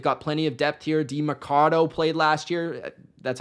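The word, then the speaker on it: Demercado: DeMarcado played last year.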